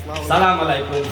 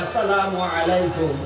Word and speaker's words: আসসালামু আলাইকুম: অথচ এই মুসলমান নামাজের মধ্যে ইমাম সাহেবের সাথে সালাম ফিরায় আসসালামু আলাইকুম, নামাজে আসসালামু আলাইকুম, আসসালামু আলাইকুম। এই মুসলমান প্রতিদিন 5 ওয়াক্ত নামাজের মধ্যে সালাম উচ্চারণ শিখে স্বয়ং ইমাম সাহেবের সাথে জামাতে নামাজ পড়তে যায় সালামের উচ্চারণটা শিখে, তারপরও রাস্তাঘাটে এসে সে সালাম দেয় সালাম আলাইকুম।